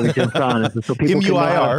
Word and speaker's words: Muir: So people M-U-I-R. Can pronounce my last name.